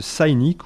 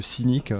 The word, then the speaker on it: Cynic: Je vais vous parler de Cynic ou de Cynic, prononcé en français, groupe américain fondé en 87.